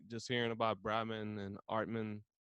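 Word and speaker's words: Atman: Like just hearing about Brahman and Artman.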